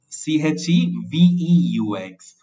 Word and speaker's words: cheveux: We must not get this word confused with cheveux, C-H-E-V-E-U-X. That means hair in the plural form, and the pronunciation is cheveux, but this is chevaux, which means horses.